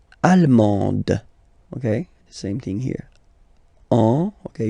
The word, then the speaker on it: allemand: L'Allemagne, allemand, allemande, okay, same thing here. Okay, you don't pronounce the final D, but then you pronounce it here for the feminine form.